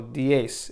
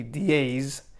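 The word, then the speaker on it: diez: then ten we have dies and then also don't forget the z say pronunciation so we pronounce the z with an s so d ace it won't be dies but it'll be the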